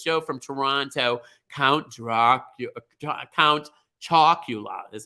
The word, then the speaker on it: Count Chocula: Count Chocula is how you say that.